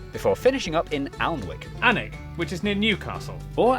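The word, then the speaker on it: Alnwick: in cuanmore quorma before finishing up in almwick anak which is near newcastle or as the people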